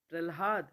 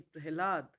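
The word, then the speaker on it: प्रह्लाद: अलाद अलाद जिवा जिवा प्रल्हाद नहीं प्रहलाद मध्यान मध्यान नहीं मध्यान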